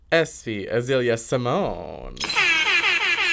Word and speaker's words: Espé Azalea Symoné: pronunciation of your name so I'm just going to say how I think it's said and then you can correct me it is SV ailia Simone yes that is exactly how you no it's